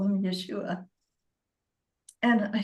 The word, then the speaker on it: Yeshua: and I was speaking to Yeshua and that is how he told me to pronounce his name. So I call him Yeshua and I said I don't understand.